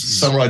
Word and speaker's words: Samurai: Samurai, as in the Warriors. Samurai Digital Security.